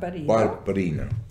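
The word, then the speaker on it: Barbarigo: Barbarino.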